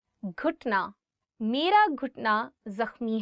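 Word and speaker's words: گھٹنا: घुटना, knee. घुटना, knee. One more time. घुटना. So it is gaf and you're adding it with he and it becomes gh, gh. घुटना.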